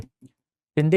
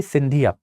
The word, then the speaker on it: शिंदे: शिंदे is basically सिंधिया, इट इज a Marathi name. आप इसको शिंदे भी लिख सकते हो। शिंदे later on became सिंधिया because of the British pronunciation, but Dattaji सिंधिया ऐसे